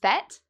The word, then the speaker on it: fête: So for example, in French, the word for party is fête, fête, and that rhymes with the English word met.